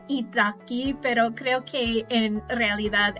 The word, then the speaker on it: italki: ahora muchas veces lo hago en internet, en italki. Yo lo pronuncio italki, pero creo que en realidad es italki, italki,